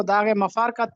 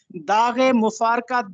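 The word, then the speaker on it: داغِ مفارقت: داغ مفارقت دے گئے۔ اکثر لوگ اس کو داغ مفارقت پڑھتے ہیں، جبکہ یہ درست تلفظ ہے داغ مفارقت دے جانا، راہی ملک عدم ہو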